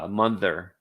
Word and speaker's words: Munther: Okay, pronouncing the O Munter, but the th is pronounced like the word the Munther.